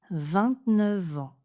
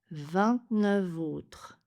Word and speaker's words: vingt-neuf: L'exception c'est que 29 est prononcé avec une liaison en V avec les mots suivants en autre heure et homme. 29 ans. 29 ans. 29 autres.